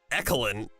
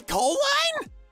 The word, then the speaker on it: Colin: Your name isn't Ekelin. E. Coline? No, it's Colin.